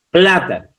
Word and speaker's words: plátano: Plátano, también una palabra esdrújula que lleva tilde en la antepenúltima sílaba.